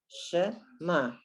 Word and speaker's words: Shema: Okay, and in Shema, okay, the only ones you hear are the shin and the mem. Shema, and the ayin is silent.